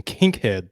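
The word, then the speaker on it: Kinkead: uh haziq Daniels I believe is how you pronounce his name out of Air Force yeah you've got Kink head Dent uh which is just a fascinating name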